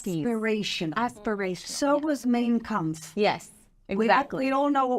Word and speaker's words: Mein Kampf: So was Mein Kampf. Yes. No. Okay, first of all, she mispronounced that. It's Mein Kampf.